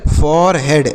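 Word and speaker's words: forehead: क्या पढ़ेंगे इसे पढ़ेंगे फॉर हेड इसे पढ़ेंगे फरड ऐसे इसे फोरहेड पढ़ेंगे और फॉरेड मतलब क्या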